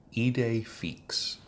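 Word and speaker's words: idée fixe: and then fix it's F I XE but pronounced fix heed a fix is an idea or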